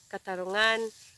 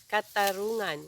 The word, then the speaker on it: katarungan: Remember, the accent is in the last syllable, katarungan, and not katarungan, which means justice.